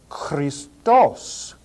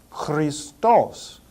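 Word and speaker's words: Χριστός: there and I'll explain accents later this is pronounced Christos Christos so this letter key is the CH the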